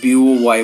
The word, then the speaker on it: buoy: Boy, the pronunciation is almost similar, but the meaning is different. So it's not B-O-Y boy. It's a B-U-O-Y boy.